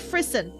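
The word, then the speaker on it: frisson: you chills is it frisen learn to pronounce tell me how to pronounce it sounds like frison okay thank you that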